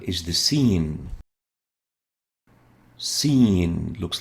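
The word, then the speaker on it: سين: as well is and we call it scene as in scene seen is pronounced s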